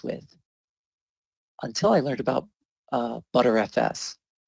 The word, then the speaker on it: Btrfs: until I learned about butter FS btrfs is pronounced butter FS that was the first